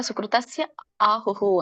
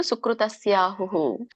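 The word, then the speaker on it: ಸುಕೃತಸ್ಯಾಹುಃ: ಕರ್ಮಣ ಸುಕೃತಸ್ಯಹು ಕರ್ಮಣಹ ಸುಕೃತಸ್ಯಹು ಬಿಡಿಸಿದಾಗ ಸುಕೃತಸ್ಯ ಆಹುಹು ಅಂತ ಹೇಳಿ ಅಲ್ಲಿ ಅವಗ್ರಹ ಇದೆ ಹಿಂದಿನ ಪದಕ್ಕೆ ಆ ಸ್ವರ ಕೂಡಿದೆ ಹಾಗಾಗಿ ಆಹುಹು ಅಂತ ಬರುತ್ತೆ ಕೇವಲ ಗೊತ್ತಿರಲಿ ಬಟ್ ನೀವು ಓದಬೇಕಾಗಿರೋದು ಸುಕೃತಸ್ಯ ಆಹುಹು ಹುಹು ಹೂ ವಿಸರ್ಗ ನೋಡಿ ಅಲ್ಲಿ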